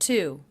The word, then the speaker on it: to: I notice again, I reduced this to the schwa sound. It's not to, it's to, is to ride, is to ride my bike.